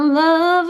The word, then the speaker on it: love: I wanna love me. Não é love, tá, gente? Presta atenção nessa pronúncia aqui. É lo. É o schwa sound.